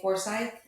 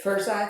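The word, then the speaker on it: Forsyth: our County properly like if I say foresight in front of people who were born and raised here they say that's not how you say it how do you say it I can't do it you say it like this first side first side first side but that's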